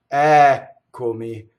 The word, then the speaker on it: Eccomi: So the first word, the accent is on the first syllable, Ɛccomi, and we also have a double K.